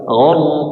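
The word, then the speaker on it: غرقا: Ini tebal harus ditinggikan suaranya coba. gharqo gharqo gharqo gharqo wnaziati gharqoziqasyitati nasq Sh.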